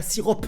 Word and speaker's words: sirop: je me suis dit pourquoi il y a un P à sirop? Pourquoi on retrouve un P à sirop alors qu'on dit pas sirop, hein, on dit sirop? Pourquoi ça s'écrit pas tout simplement S-I-R-O?